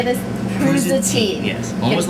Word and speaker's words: prosciutto: It's not like prosciutto.